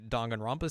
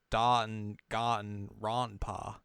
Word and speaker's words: Danganronpa: I don't know what that sounds like, but like if you think of how Japanese a's are pronounced, they're like ah. So it' be like d and got ronpa.